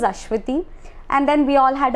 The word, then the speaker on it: Aswathy: was from north india he called me all the time so i told him sorry sir my name is ashwiti and then we all